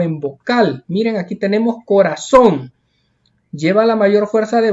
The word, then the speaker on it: corazón: Miren, aquí tenemos corazón. Lleva la mayor fuerza de voz en la última sílaba, por eso se tilda porque termina en N.